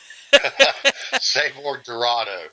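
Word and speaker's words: Sabor Dorado: And then you got your Saber Doroso. How do you say it? I'm going to mess. Savor Dorado. Savor like Dorado. Like in El Dorado, absolutely.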